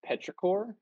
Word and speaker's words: petrichor: incredible work man um yeah you know it's pronounced petrichor and it's actually the word itself is describing